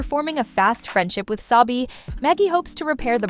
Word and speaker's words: Sabi: Oh, sorry, I'm Sabrina, but everyone calls me Sabi, rhymes with baby, and this is my dad, Chris.